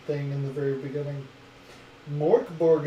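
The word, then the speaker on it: Mörk Borg: in the very beginning mork borg is swedish for dark foreign is pronounced murkboard so you kill the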